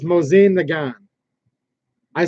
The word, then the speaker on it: Mosin: you hear people say everything like I say Mosin right just because I want to it's actually mozian it's moseying the gun I say Mosin Nagant and I